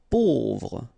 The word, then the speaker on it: pauvre: Pauvre, A-U together will produce this O sound, pauvre.